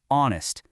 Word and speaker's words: honest: The h is silent. The first sound you actually make is a vowel sound. Our honest.